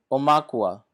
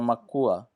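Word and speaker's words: ʻaumakua: divine spark, yes, comes the higher soul, which is called Akua or Aum Akua, pronounced Omakua or Makua.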